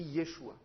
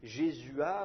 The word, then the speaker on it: Yeshua: ou Yoshua ça s'écrit Yeshua donc au lieu de les appeler Josué il faudrait faudrait essayer de les appeler G jésua ou ou jésué ou quelque chose comme ça mais les traductions